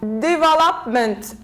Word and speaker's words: development: stress on the third we have development development so we say devopment 1 2 3 so we put the stress here stress falls on the third syllable from the end remember